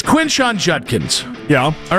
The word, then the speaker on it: Judkins: It's Junkins. Junkins. No, it's Judkins.